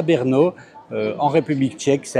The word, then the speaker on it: Brno: Alors, petite précision hein, Brno, ça s'écrit B RN O, sans voyelle apparente mais ça se prononce en fait euh Brno hein, plutôt même pas Brno mais Brno.